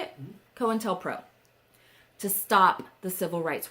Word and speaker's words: COINTELPRO: COINTELPRO.